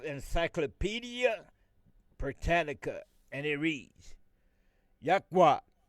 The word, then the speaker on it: Yahweh: using the four letters, which they call the Tetragrammaton, YHWH, which we pronounce Yahweh.